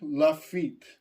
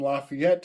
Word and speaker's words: Lafitte: very interesting pirate, Jean Lafitte. Some will call him Lafayette. Some will call him Lafitte. There are many ways to pronounce his name.